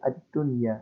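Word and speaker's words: الدنيا: Nah, untuk nun dan ya ini tidak usah didengungkan sehingga dibacanya itu dengan ad-dunya langsung tuh.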